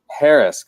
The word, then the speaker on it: Parask: say your last name yours like Paris France with the K on the end Harris okay all right Tamara